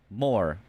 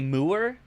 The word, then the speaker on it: More: More. Do you want me to say Moor? Do you want me to, like, double Moor armor? It's More. That's just how you say it.